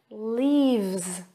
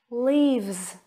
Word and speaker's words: leaves: safes then we have leaves and this time it's a z sound repeat after me leaves leaves great moving on